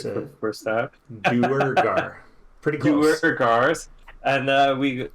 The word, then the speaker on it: Duergar: Well, came to tell you that we captured a Duergar and some... that's what they're called, right? Am I saying it right for the first time? Duergar.